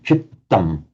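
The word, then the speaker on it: cittaṃ: Remember, in Pali and Sanskrit, when you see a doubled consonant, it's the same as Italian. Those of you who know Italian, it's important to pronounce it double. So chittam.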